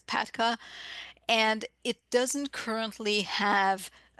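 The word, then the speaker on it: PATCA: It really insisted on spelling out P-A-T-C-A instead of just pronouncing it as Patka.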